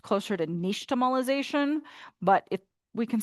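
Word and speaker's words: nixtamalization: So this technology, this word actually comes from the Aztec language. So it's pronounced closer to niche tomolization, but it we can say nyx tomolization.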